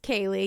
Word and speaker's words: Kaylee: Hey ladies, my name is Kaylee, pronounced Kaye.